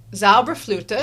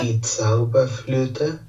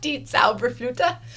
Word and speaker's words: Die Zauberflöte: Zauberflöte? Die Zauberflöte. I was close. Die Zauberflöte.